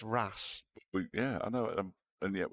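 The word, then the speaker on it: Reims: Reese for one well here's one for you Reams in France yes is actually Ras is it but it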